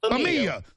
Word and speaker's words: Femia: Femia, like family. Yeah, exactly like family.